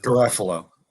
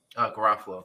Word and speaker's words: Garofalo: gara follow if i say her name correctly ruffalo garofalo there you go thank you um i feel